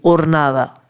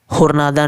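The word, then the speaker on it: jornada: जैसे स्टार्टिंग में HORNADA, ओरनादा, होरनादा नहीं, ओरनादा। और यहाँ पे कौन सा वर्ड है, जैसे CALLE, calle está अब comercializado नहीं, comercializado।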